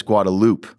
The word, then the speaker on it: Guadalupe: call I do wait how do you say uh Guadalupe Guadalupe is that right it's Guadalupe yeah I always say how